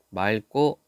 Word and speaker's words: 맑고: 닭, 맑고, 막지, 여덟 이렇게 되어 있죠. 자, 그런데 여기서 여러분들이 조심해야 될 게 이거. 맑고, 막지. 똑같은 건데 앞에 있는 것은 리을로 발음했고 뒤에 있는 것은 기역으로 발음했다.